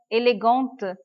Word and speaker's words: élégante: Be careful for the pronunciation. Élégant, élégante. It is starting with vowel. So we are joining the letter T.